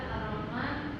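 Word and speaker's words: الرحمن: Dibaca Ar-Rahman, alif lam diikuti huruf ro.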